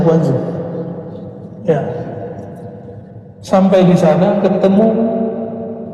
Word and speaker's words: Guangzhou: Benar bacanya Guangzhou.